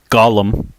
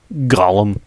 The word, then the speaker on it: Gollum: And uh one of the characters named Gollum, you got to you got to be really guttural with the G uh when you say his name cuz it's like you're